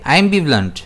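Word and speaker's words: ambivalent: इसे हम प्रोनाउंस करेंगे आई एम बींट। जिसमें स्ट्रेस जो है वो बी पर रहेगा।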